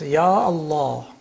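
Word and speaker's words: يا الله: It's ya Allah. Ya Allah. You don't say Allah. You have to say ya Allah. The alif is retained.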